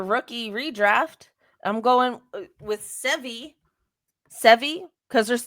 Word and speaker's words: Sevgi: I'm going with Sevi, because her name is spelled Sevgi, but I think the G silent.